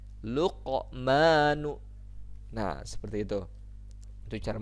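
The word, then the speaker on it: لقمان: Ada di situ kan qaf yang matinya ya, huruf qaf hurufnya. Luqmanu. Nah, di situ ada pantulan tapi tidak terlalu kuat ya kalau di tengah kalimat itu. Luqmanu.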